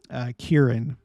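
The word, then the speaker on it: Ciarán: That was as a result of Storm Kieran, is how you pronounce it.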